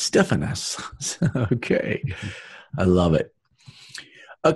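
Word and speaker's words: στέφανος: crown this is interesting this is Stefano's Stefano's let's listen Strong's G 4735 Stefan us Stefan us ok st. Rick you are corrected it's Stefan us ok I love it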